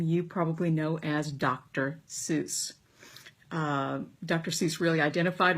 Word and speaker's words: Seuss: kind of fitting if we called him Dr zoy because that Whimsical kind of sound is I